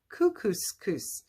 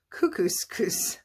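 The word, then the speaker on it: Kookooskoos: camp anyway welcome to camp cuckoo it rhymes with moose that's another good thing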